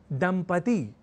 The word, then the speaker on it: दंपति: देखकर समझ सकते हैं दंपति इस शब्द को लिखने और उच्चारण के क्रम में लोग दंपति या दंपति जैसे प्रयोग कर दिया करते हैं और ऐसा इसलिए भी